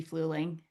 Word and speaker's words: Fluling: Someone related to Dylan is in the chat, Rusty Fluling, saying it's just like it's spelled, pronounced just like it's spelled.